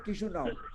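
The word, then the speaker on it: Chișinău: किशुनाव, किशुनाव।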